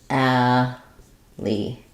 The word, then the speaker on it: alley: So thinking of alley, I would think about that like alley. So the break really is between the a and the ul. So it's not really like al, e.